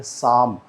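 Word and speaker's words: psalm: ये यहाँ पे जो पी है, यानी प साउंड जो है वो साइलेंट रहती है, ये बोला जाता है साम।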